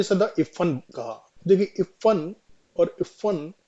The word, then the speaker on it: इफ़्फ़न: इस इफन को टोपी ने सदा इफन कहा। देखिए इफन और इफन में क्या डिफरेंस यहां पे फ के नीचे डॉट लगा है। ये बिंदी लगी हुई है।